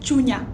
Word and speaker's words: chunya: So in the Kenyan Luo, the word for the heart is chunya, chunya. So it's spelled as C-H-U-N-Y-A, chunya.